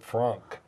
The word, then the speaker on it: FRAANK: And I pronounce it Frank.